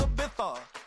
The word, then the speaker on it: Ibiza: Ibiza, yeah, it's pronounced Ibiza, actually.